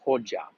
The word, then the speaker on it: Hoxha: and that was under the dictatorship of Enver Hoxha. And it's spelled with an X, but pronounced Hoxha.